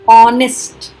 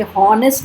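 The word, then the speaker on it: honest: H silent, ऑनेस्ट, बहुत लोग confuse होते हैं, इसे हॉनेस्ट नहीं बोलना है, ऑनेस्ट।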